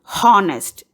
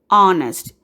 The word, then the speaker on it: honest: Here, we don't pronounce the word as honest. We say honest.